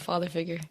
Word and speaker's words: Father Figuer: lakeways and father figure and i'm saying father figure right right it's yeah just straight old father figure okay because we gotta